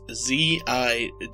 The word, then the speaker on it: Zigzagoon: It's Zigzagoon. So Ziggs, which is Ziggs, and then then Goon, as in Goonies.